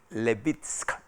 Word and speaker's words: Levitsky: este es un libro de un profesor steven levitsky se escribe l a v dsk se llama house